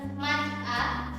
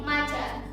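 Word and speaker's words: 맞아: yang pertama adalah Maja jadi cara bacanya bukan mazhab tapi Maja ikutkan di atau digabungkan dengan vokal berikutnya kemudian Mobo cara bacanya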